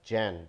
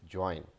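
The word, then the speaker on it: join: So that is नॉट जैन, that is ज्वाइन.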